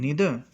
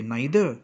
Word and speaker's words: neither: Now neither nor is also correlative conjunction, because whenever we are using neither, nor is also used, right? Some say neither, some say neither. Both the pronunciations are accepted.